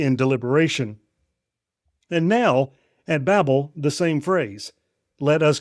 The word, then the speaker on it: Babel: Babel. In Hebrew, it sounds like the word Bal, which means to confuse or to mix.